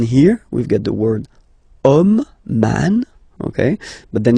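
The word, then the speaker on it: homme: we've get the word om man okay but then it start with Ash as in French Ash is not pronounced so the first sound that we hear is O Okay and then it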